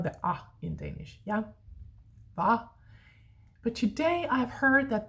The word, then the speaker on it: hvad: Va. But today I've heard that the same spelling is pronounced differently. Young people today would say hvad, so with a flat A instead.